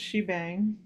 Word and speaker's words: shebang: It's pronounced shebang.